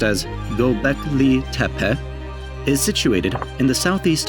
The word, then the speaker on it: Göbekli Tepe: Göbekli Tepe, pronounced as Göbekli Tepe, is situated in the southeast of Turkey.